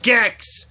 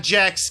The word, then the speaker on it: Gex: Gex, not Jex.